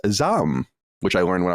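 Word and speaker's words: ZA/UM: just did with Hogue on zaum which is actually pronounced Zam which I learned when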